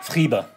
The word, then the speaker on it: Friebe: Friebe.